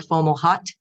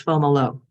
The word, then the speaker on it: Fomalhaut: Looks like Fomalhaut, but it's Fomolo.